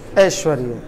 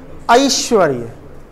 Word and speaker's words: ऐश्वर्य: ऐश्वर्य, जो कि अशुद्ध है, क्योंकि शुद्ध उच्चारण क्या है? ऐश्वर्य, ए आई, ए आई।